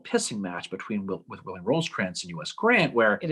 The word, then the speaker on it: Rosecrans: match between with william rose trance and us grant where it is allegedly somebody we don't know who it was but it probably rhymes with foes crayons okay goes to a